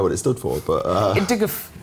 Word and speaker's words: IDGAF: Diguf. Right. Yeah, you pronounce it like that.